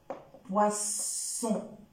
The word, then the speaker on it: poisson: son ze raison poison si jamais j'ajoute un autre s le son le son va changer exemple le mot poisson alors là je n'ai